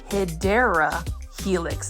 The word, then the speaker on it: Hedera helix: Here is a stunning Hydra Helix, or what you call the Hedera Helix. That is the correct way to say it. But if you want to say it the Grow Folds Plant Foldy way, you say Hydra Helix.